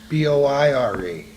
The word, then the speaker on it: Boire: B-O-I-R-E. Boire. B-O-I-R-E. That's boire.